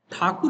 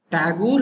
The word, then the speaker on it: Thakur: Tagore is the name given by the Britishers because they cannot pronounce Thakur. They were pronouncing Thakur, Thakur, Thakur as if. So Thakur that is became a Tagore.